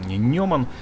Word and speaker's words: Неман: Именно белорусские конструкторы взяли за основу этот автобус, получили лицензию и сделали несколько своих улучшений, доработок, так сказать, доработали Неман. Неман, правильно он произносится.